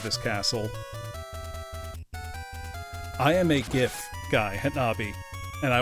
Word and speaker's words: GIF: become an accepted usage the reason that I am a proponent of a hard G for GIF is because if you look at all near neighbor words to it now I don't say that somebody gave me a Christmas gift they gave me a